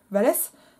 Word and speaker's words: Vallès: ce qu'on retrouve aussi chez valaize vallès mais paraît qu'on peut prononcer valaize sans fin c'est une variante que la mort de